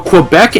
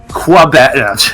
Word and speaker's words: Quebec: By the way, I love, Aiden, that you're saying Quebec right and Carter isn't. Whoa. Quebec. Quebec? Quebec, okay. The U doesn't exist. Quebec. Alright. It's French.